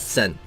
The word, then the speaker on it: Sen: Sen. Sen. There is that. Sen. There's 2 syllables in that one. Sen. Not even 2, just 1. Just 1. Just 1 syllable.